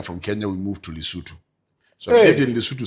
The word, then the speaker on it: Lesotho: No, you see, that's the wrong pronunciation. I know, but that is what they know. So they've been saying it, but Lesotho. It's not Lesotho. Yeah. It is Lesotho.